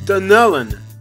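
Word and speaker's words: Dunnellon: It's pronounced Dunellen.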